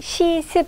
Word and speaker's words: 시습: 김시습 이렇게 되어 있는데 자, 실제는 시습 이렇게 발음이 되겠죠.